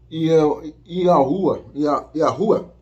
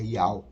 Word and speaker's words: Yahweh: quando eu falei Yehoshua, quando eu falo o nome do Criador como Yahuwah, esteja enganado, não é essa pronúncia, a pronúncia certa é Yahweh.